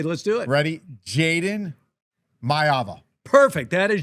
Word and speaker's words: Jayden Maiava: Jayden Maiava. Perfect. That is Jayden Maiava.